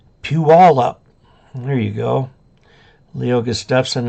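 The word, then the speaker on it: Puyallup: up uh Chris Robinson pull you all up is the easiest way to pronounce it Pew all up there you go Leo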